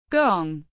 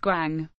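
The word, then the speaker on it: 觥: Gong, not pronounced guang.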